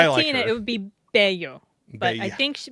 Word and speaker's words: Bello: Mortensen, I like him a lot, and Maria Bayo. Bello. Sorry, I think. I Unless am really she's great about Italian. It might be pronouncing- Bello. Might be It is Bello.